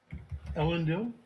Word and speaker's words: Elendil: Elendil. It's the Tolkien character, and then my initials, GBB.